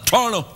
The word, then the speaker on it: Toronto: I pronounce it like locals say Toronto. I call it Torno. Hey, we're in Torno. Do you mean Toronto? No, I don't have time for T's.